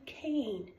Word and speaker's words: cane: But if you add the silent E at the end, it goes to cane. From can to cane. The E elongates the A that's in the middle and makes it a sound, and it goes to cane.